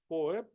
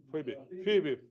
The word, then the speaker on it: Phoebe: First evaluator is Poep. Do I pronounce it right, guys? Poep. The name. Phoebe. Phoebe. Sorry.